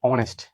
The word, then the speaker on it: honest: এখানে দেখুন HONEST, এটা কিন্তু হনেস্ট না, এটা আমরা কি বলবো, অনেস্ট। যেহেতু এটা হ এর মতো উচ্চারণ হচ্ছে না, কারণ এটা অনেস্ট, হনেস্ট, এটা আমরা অনেস্ট।